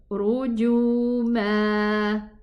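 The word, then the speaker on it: رجوما: If I stop on it, and that's why the alif is here. But if I connect, this alif is not pronounced. Okay? It's just here instead of the fathatain. As long as I'm not going to pronounce it, as long as I'm not going to stop there, I'm not pronouncing the alif.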